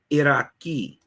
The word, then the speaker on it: Iroquois: the Iroquois right the Iroquois first of all disrespect this is pronounced Iraqi Iraqi and here's another great